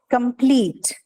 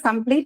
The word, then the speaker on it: complete: to be stressed okay example here is complete extreme okay so what is this complete extreme both of them are adjectives and uh if you look at complete the last um syllable which is bleach right that has a long vowel e extreme also the case is C so because of the presence of a long vowel in the last syllable the stress is again on these two I understand uh you